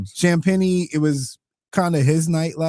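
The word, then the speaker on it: Champagnie: How you say his name? Champeni. Champeni. Yeah. Champeni. Champeni. Like like champagne. But I know it looks like Champagne. That's what throws me off.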